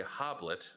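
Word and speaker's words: Hoblit: Sutherland directed by Gregory hob late' which sounds like a tiny Hobbit like a babe like a baby Hobbit this is because this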